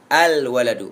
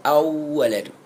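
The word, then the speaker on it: الولد: yang ke-12 ananiasyar wau alwaladu bukan awaladu yang ke-13 alhaw Ha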